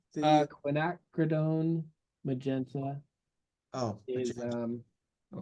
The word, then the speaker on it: quinacridone: here ah okay MH took me like a year to say that right when acrone okay I was mispronouncing it in class for probably a year and I said it a little different each time too just I think I'm saying it the right way now I don't so